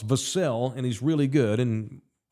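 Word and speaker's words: Vassell: the Devin vassel now it's vasel and he's really good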